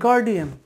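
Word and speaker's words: guardian: গার্জেন বলে কোনো শব্দই নেই বাংলাতেও, গার্জেন বলে কোনো শব্দ নেই বাংলাতে, হচ্ছে অভিভাবক, আর ইংরেজিতে হচ্ছে গার্ডিয়ান।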